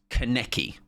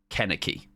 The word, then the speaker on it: Kaneki: Kaneki. Kaneki. Kaneki. Kaneki. Kaneki. Kaneki. Or, no, Karneki. Karneki. Because I googled it. I looked at, like, pronunciations. Karn, like Star Trek.